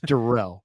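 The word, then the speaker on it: Darrell: get the fly swatter out for okay okay Daryl lutter D derell derell apologies derell lutter Jr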